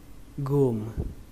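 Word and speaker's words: womb: Ở đây nó ghi là âm o nhưng mà chúng ta sẽ đọc là âm u. Nó giống như từ gu trong tiếng Việt và chúng ta thêm âm m nữa. Ở đây thì các bạn xem âm b này là âm câm, coi như nó không tồn tại.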